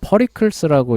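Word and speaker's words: Pericles: 영어실을 읽으면 퍼리클스라고 읽어야 될 거 같은데 하여간 그냥 페리클래스라고 읽을게요.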